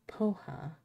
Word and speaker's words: poha: Someone called Poha. Am I pronouncing that? Right, poha.